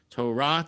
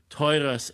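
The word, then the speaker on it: תורה: But it's like all of that is, it's Asher natan lanu Torah emet, right? So all the emphases are on the end of the words. And then if you do the Eastern European Ashkenazi pronunciations, Asher nosan lanu Toiras emes. So everything's on the front of it.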